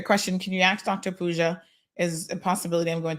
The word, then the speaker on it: Pooja: So her name is spelled P-O-O-J-A Pooja, Dr.